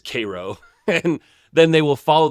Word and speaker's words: Cairo: at a place called Cairo, which is spelled just like Cairo, Egypt, but regional pronunciation, I guess, is Cairo.